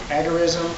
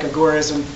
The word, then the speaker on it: agorism: And just a little clarification, you'll hear the word you'll hear it pronounced agurism a lot. And I'm just I'm a purist. I like agorism.